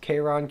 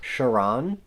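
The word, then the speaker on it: Charon: I'm just not realizing I don't think his name is actually pronounced Kon Kon is like the passenger to the underworld in Greek mythology but I think he's pronounced shiron at least that's how Winston pronounces it in this movie I'm so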